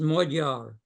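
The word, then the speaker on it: magyar: adjective of from Hungarian in Hungarian that's pronounced modar the uh the uh a comes out like a u and the gy in Hungary is a d the letter d as in David well I'm glad I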